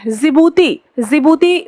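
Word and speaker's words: Djibouti: जिबूती भी एक महत्वपूर्ण देश है, इसमें डी आपका साइलेंट हो जाता है।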